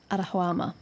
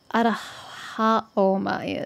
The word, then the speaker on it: Arahaoma: Arahuama. Arahawa Oma. I've been pronouncing the O and the A the wrong way around. The essence of memory, messenger that drives away death, the elixir Arahaoma is.